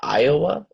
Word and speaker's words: Iowa: want to go this is pronounced Iowa it's a place in the US so yeah so that's actually an I not an L like a capital I thank you so much